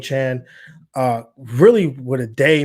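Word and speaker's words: Achane: just read that he that's how he wants his name pronounced I know everyone's been saying a chain but stevonnie Chan uh really what a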